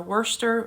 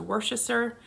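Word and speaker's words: Worcester: bethlehem or you go up to north or wurster as opposed to worchester and how do you say some other words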